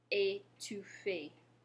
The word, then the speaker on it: étouffé: It's only above the letter E, and it changes the pronunciation of the E to the A sound.